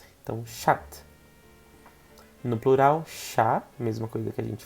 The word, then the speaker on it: chat: Gato, a gente diz chá, chá, igual o chá que você toma, chá. No feminino, chat, a gente fala só o T, um T. Então, chat. No plural, chá, mesma coisa que a gente falou aqui.